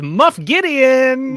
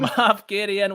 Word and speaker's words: Moff Gideon: Who is Muff Gideon? Moff Gideon.